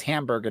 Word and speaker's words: Hamburg: um but apparently you thought it was hamburger not hamburger well it's pronounced Hamburg I I I I